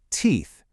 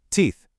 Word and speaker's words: teeth: Teeth. And again, all the magic happens with that final TH. Tongue out, let the air flow. Let's hear it. Teeth.